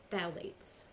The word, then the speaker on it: phthalates: the second one is phthalates and you probably have heard of that word it's actually spelled with a ph on the beginning that's silent so it's p-h-t-h-a-l-a-t-e-s and